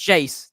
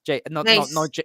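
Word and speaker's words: Geyse: a bit afraid, because I think a lot of commentators and fans seem to get her name wrong. So so it's Jace, Jace, yeah, not not Hazel, Jay Z.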